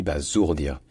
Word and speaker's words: basourdir: dit bazourd dire hein ça s'écrit avec un S mais ça se dit bah zourd dire ce qui est logique parce que le s en français entre de voyelles ça se dit et donc de